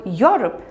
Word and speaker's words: Europe: The word Europe begins with a U or yo sound.